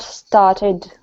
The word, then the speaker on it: started: See here, this is the third sound. E D where I mean it's a syllable and then D. Okay. Start. St started. We can't say started or started. There has to be a breakup in sound. There has to be a syllable thrown in.